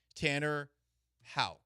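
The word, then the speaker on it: Houck: them off number one Tanner ha it's not pronounced Huck Tanner ha the Red Sox two Garrett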